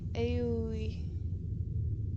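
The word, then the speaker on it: 青い: It is pronounced as aoi.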